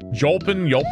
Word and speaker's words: Jolpin: It is pronounced Yolpin.